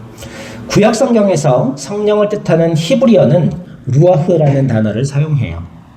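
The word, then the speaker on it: רוח: 구약 성경에서 성령을 뜻하는 히브리어는 루아흐라는 단어를 사용해요. 또 신약 성경에 그리스는 푸뉴마라는 단어를 사용합니다. 히브리어 뭐라고요? 그렇죠. 루아흐 루아흐라고 그래요. 독일어 발음 히처럼 그래 루아흐 그렇게 말하는 거예요. 신약의 그리스는 뭐요?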